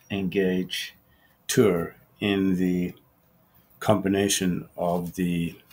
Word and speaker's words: Tour: one called James T his last name is spelled t o Ur as in tour and the debate can